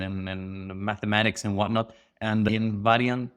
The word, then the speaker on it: Invariantes: Mathematics and whatnot and in Varian this is the Spanish pronunciation for the term invariance which is a property